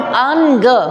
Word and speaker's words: अंग: अंग बोल रहे हैं हम, अंग, बीच में क्या आ रहा है? न का उच्चारण हो रहा है।